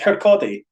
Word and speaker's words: Kirkcaldy: It's Kirkcaldy. Yeah. Yeah, the L. You don't pronounce the L.